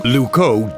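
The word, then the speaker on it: Loucaux: work why what's wrong lco doesn't really rhyme with Bordeaux it's spelled completely differently really lco is spelled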